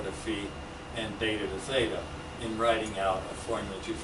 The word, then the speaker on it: theta: the actual polar co-elevation, theta, that rhymes with beta, is being done right here.